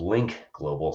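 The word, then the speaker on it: Lynk Global: There's a company called Link Global, spelled with a Y and a K.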